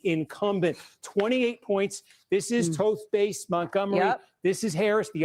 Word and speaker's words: Toth: This is Toast Base. I apologize. I've been saying it wrong.